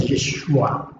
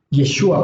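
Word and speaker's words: ישוע: No lo olvide, Yod, Shin, Vav y Ayin, que su forma de pronunciarlo en español es Yeshua. Yeshua, porque Yeshua cuenta la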